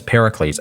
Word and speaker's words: Pericles: I get his name wrong all the time. Pericles. His name is Pericles, at least according to the pronunciation of his name by the Firaxis staff from Civilization 6.